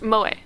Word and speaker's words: moe: Pronounced moe.